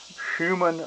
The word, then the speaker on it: Schumann: know a lot about it, but it's called Schumann resonance, and that's spelled S-C-H-U-M-A-N-N, Schumann resonance.